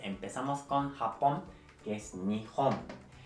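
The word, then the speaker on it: 日本: Japón se escribe así y se lee Nihon.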